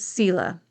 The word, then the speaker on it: Selah: I've always said Selah, but I've also heard it pronounced Selah. So it depends who you talk to. I answer to both, but I use the pronunciation of Selah.